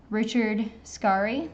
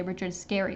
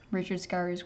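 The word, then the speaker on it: Richard Scarry: talk about relevant probably Richard scari or people often say Richard scary but I think it's actually pronounced Richard scar trying to mix a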